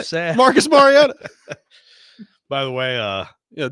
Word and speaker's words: Mariota: say his name I just said it Marcus Mariota by the way uh yeah do that he came in the other day and too called him marota I'm like oh man it'll never end it'll